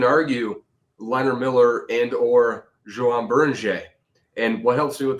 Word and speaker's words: Beringer: And what helps me with the Berning pronunciation is that the French don't usually say like their last letter of a word. It's always silent unless it's like a C sound. So for me like buring like that helps me